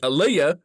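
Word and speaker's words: Aelia: I don't know a e l i a aaliah just say it like that okay my name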